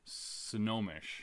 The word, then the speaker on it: Snohomish: And how are we saying it? Snohomish. Oh, very similar then. Yeah. Okay. The O and the N is flippy-floppy. So, Jennifer from Snohomish messaged to say that